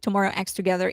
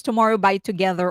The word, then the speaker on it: Tomorrow X Together: So for Tomorrow X Together, sorry, tomorrow I was told don't pronounce it Tomorrow X Together. It's Tomorrow by Together or TXT.